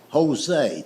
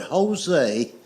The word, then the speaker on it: Jose: I said, "I know it's a J, but it's pronounced with a H. It's like the word Jose. The word Jose is J O S E, but it's pronounced with a H.